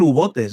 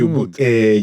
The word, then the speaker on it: U-Boot: Yo creo que es U-bote. Es B-O-O-T-E. Bote. Bote. Pero en alemán. Sí. En alemán se pronuncia prácticamente todo. No es como en inglés.